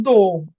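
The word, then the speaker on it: дом: এরপর হচ্ছে দোম। দোম কি? দম দমের ওর মতনই উচ্চারণ হয়।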